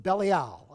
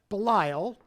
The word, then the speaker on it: Belial: he called it the sons of belly owl I always make sure I get the pronunciation right it's not Belial as Pat always tells me I get it right thank you the force behind